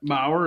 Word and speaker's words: Maher: Like, if you think about it, Brett Maher, is that how you say it? Or Mayer or whatever? Maher, yeah.